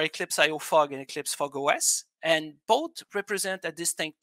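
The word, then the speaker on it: fog05: and eclipse fog os it's written fog zero five but it pronounced uh fog os uh so both platforms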